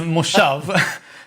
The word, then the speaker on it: moshav: It's a Moshave.